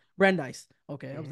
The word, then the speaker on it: Brandeis: Um, there's another professor, another neuroscientist from Brandeis University. I'm not Brandeis. Brandeis. Okay, I was Hmm. like, I definitely pronounced that right.